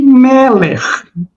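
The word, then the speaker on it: מלך: Mas aí, olha o que o Homer fala, é supor que o termo Moler se pronunciava na origem Meler.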